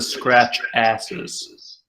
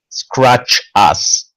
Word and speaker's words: Scratchas: I'm sorry, the scratches or the scratch asses? Scratch us. That's actually how they're pronounced.